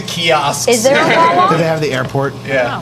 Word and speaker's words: Wawa: Is it spelled the way it sounds? Yes. W-A-W-A? Yeah, Exactly.